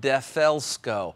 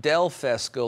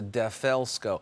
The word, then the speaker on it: DeFelsko: e l l sco defelsko it's not del fest go like a dell computer it's a defaelsco so defelsko paint thickness gauge now